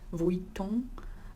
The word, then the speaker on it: Vuitton: So it's Louis, the S is silent, and as well as the N in Vuitton. The UI is actually set, it's Vuitton.